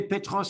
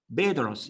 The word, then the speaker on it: Petros: Ils prononcent le P comme un B, hein. Petros, ils disent.